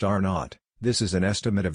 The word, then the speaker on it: R naught: the basic reproduction number or r0 pronounced R naught this is an estimate